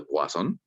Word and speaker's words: Poisson: Mira, la relación de Poisson o de Poisson, si nos ponemos un poquito franceses y lo pronunciamos como deberíamos, la relación de Poisson